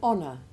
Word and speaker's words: honour: from the same root, in all of which the initial H is silent. Listen. An honour, honourable, honorific, honorary, honorarium, honest, honesty.